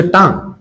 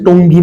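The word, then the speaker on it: tongue: একটা হচ্ছে টাং বা জিহ্বা, দেখো উচ্চারণ দেখো, এটা হচ্ছে টঙ্গি না, এটা হচ্ছে টাং, ঠিক আছে?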